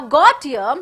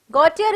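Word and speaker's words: Gautier: okay in the entire drama remember that now got here who's got here now so here the l is silent okay remember that it's not goldia it is got here gautyer is a pastry cook he's always very very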